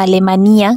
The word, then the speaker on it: Alemanía: pronto la oscuridad porque esta localidad se llama alemanía con acento en la i nadie sabe bien Por